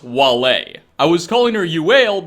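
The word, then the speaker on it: Uaile: This girl's name is not pronounced Yuale, it's pronounced Wale.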